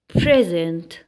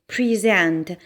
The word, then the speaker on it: present: ده كده لو ضغطنا على الحرف الأولاني وقلنا P present. لكن لو في حالة الفعل هيبقى ليها نطق مختلف تماما. يلا نشوف مع بعض. في حالة الفعل هنقول pre عادي جدا، وهنيجي نحط stress هتبقى على الساوند اللي هو z.